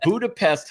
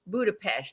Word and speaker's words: Budapest: Uh, and Budapest, Hungary again. Or you you say Budapest. Budapest. That's how they say it. So, you Budapest is what I say.